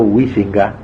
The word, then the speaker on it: Huizinga: Hay un pensador holandés, protestante creo, llamado Huizinga se dice, pero nadie lo pronuncia así, Juan Huizinga, que escribió un libro que se llama así, Homo Ludens, el hombre que juega.